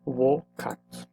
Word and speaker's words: vocat: And as we can see, we need to pronounce this as wo. So this is labor me vocat.